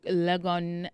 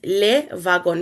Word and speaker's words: Le Wagon: So um it is a French um uh company started in France. So it is le vagon which basically means the wagon.